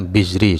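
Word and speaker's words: Al-Bizri: yang lain Isam Al Al bazri ya alazri atau bizri ya itu bacanya Kadang sulit nama ulama itu jadi Jamaluddin albizri juga Menjelaskan hal yang sama seperti penjelasan Oh ini sudah ada ya bizri sudah ada harakatnya setelahnya juga menjelaskan penjelasan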